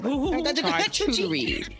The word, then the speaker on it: charcuterie: What the Charcuterie. What? How do you pronounce that? Charcuterie? Some people say charcuterie, whatever you want to say.